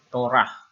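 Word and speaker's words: תורה: Jadi ini T-O-R-A-H, Torah.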